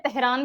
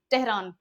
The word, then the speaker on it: तेहरान: इसको हिंदी में तेहरान भी बोलते हैं, इंग्लिश में जनरली इसका प्रोनाउंसिएशन ट से होता है, तेहरान, ठीक है?